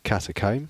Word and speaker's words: catacomb: then I suppose you you guys are pronouncing it like uh catacomb like that so well I'll just leave it there think com like the hair thing oh like a hair comb oh no they fought